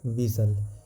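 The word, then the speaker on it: whistle: silent in the word विसल यानी विसल पढ़ र है ना इसमें से साइलेंट वर्ड कौन सा है तो यहां पे एच साइलेंट है और टी साइलेंट है क्योंकि विसल जब पढ़ रहे हैं तो इसमें एच का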